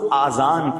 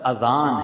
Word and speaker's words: اذان: نیکیاں کما سکتے ہیں۔ بعض لوگ آذان کہتے، یاد رہے پہلے اذان کہتے کس طرح ہے، اس کا تلفظ لیں، آذان اذن کی جمع، اذن کہتے کان، یہ آذان نہیں ہے، لفظ اذان، اور اذان کے لغوی